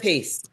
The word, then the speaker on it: carapace: part Carapace.